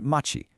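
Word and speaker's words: 町: And then you've got this one, Machi, pronounced Machi.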